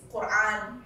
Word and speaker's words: Quran: By the way, it's Quran, Hajj, and Allah.